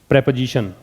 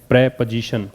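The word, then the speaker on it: preposition: इसके बाद नंबर 6 पे हम ले लेते हैं इसके अंदर प्रेपोजिशन। इसका उच्चारण क्या है, प्रेपोजिशन, प्रीपोजिशन नहीं पढ़ना होता इसको।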